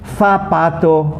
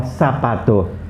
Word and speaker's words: zapato: Zeta in Spain basically has a very soft sound, a th sound. You put your tongue on the top, like th, touching your top teeth, okay? Th. And in Latin American countries, it's usually pronounced as an S, sa.